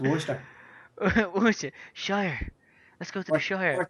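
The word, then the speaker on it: Worcestershire: Chester Shire I know I can't say it War Chester Shire that's what it's actually called but it's pronounced wer sh let's go to the sh orchester sauce yeah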